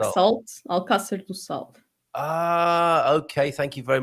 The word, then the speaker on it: Alcácer do Sol: Am I right in saying, is it Alcácer do Sol? So Casa do Sol. Casa do Sol, you call it? Alcácer. Alcácer do Sol.